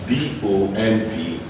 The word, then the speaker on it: bomb: This B is silent, and this word is pronounced as bomb. Why? There is a rule. Anytime words end in NB, any word that ends in NB, the B automatically becomes silent.